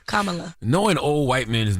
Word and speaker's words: Kamala: Camilla. Is Kamala or Kamala? Kamala.